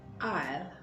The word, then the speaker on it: isle: And then you have Isle, which means a small island.